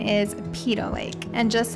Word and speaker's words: Peyto Lake: Okay, so the correct pronunciation is Peyto Lake.